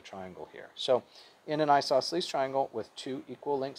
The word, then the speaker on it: isosceles: hard word to spell and maybe say it's pronounced isosceles triangle and it says two sides equal length